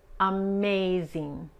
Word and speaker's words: amazing: Okay, la G es tan sutil cuando tenemos la ING al final de una palabra y la palabra es de más de una sola sílaba, la G casi ni se pronuncia, okay?